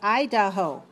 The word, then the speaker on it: Idaho: How about Idaho? Idaho. Idaho. 3 syllables. Stress the first one. Right. 3, 1.